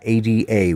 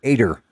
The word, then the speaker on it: Ada: Ada was how you pronounce her name, Ada. But they all called her Ader. They put an R on the end. Yeah, that's my Aunt Ader. And there was no R in her name.